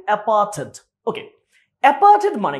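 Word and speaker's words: apartheid: আমরা কি অ্যাপার্থেড বা অ্যাপার্থাইড উচ্চারণ করি, বাট উচ্চারণ হচ্ছে অ্যাপার্থেড।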